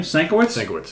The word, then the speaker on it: Sienkiewicz: Sienkiewicz, yeah.